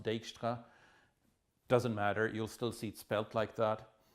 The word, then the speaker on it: Dijkstra: I think that's a Dutch name, so it's probably pronounced Dijkstra.